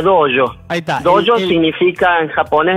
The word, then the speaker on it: dojo: dojo se dice claro se escribe dojo con j y se pronuncia doyo Ah doyo significa en